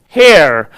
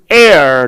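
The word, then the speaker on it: heir: european similarly dash air h-e-i-r you can't read as hair this is air the pronunciation of air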